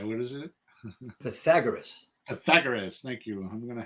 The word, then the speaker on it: Pythagoras: say what is it Pythagoras Pythagoras thank you I'm gonna have lots of trouble with that and Accent on the second syllable I'm Pythagoras yeah there you go